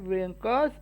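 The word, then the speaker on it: wrinkles: तो W silent है बेटा, वर्ड्स कुछ साइलेंट होते हैं ना, इसमें साइलेंट लेटर है, तो रिंकल्स आप लोगों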